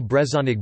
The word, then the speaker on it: brezhoneg: No distinction is made in pronunciation, e.g. Brezhonic Breton language versus Brezhonic Breton adj.